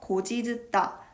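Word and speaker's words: 곧이듣다: 어간 곧과 전미사 이가 결합하는 과정에서 구개음화가 일어나고 연음이 되어 고지듣다 라는 발음이 만들어집니다.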